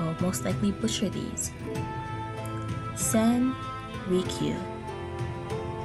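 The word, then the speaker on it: Rikyū: hot caffeine content apologies I will most likely butcher these sand reek you r i k y u famous 16th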